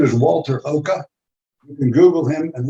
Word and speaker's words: Oka: I was thinking about retiring, but I'm not thinking about retiring anymore, seeing what Walter Oka is doing. It's spelled just like it sounds, OKA.